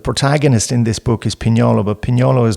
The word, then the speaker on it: Pignolo: of guiding people that it's not Pignolo, yeah, it's Pignolo, and even I have a hard time with the nye.